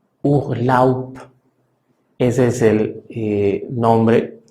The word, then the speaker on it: Urlaub: Entonces, en alemán suena casi como si fuera una letra P. Se pronuncia Urlaub, Urlaub. Ese es el nombre, o más bien, ese es el sonido de la palabra Urlaub, donde al final estamos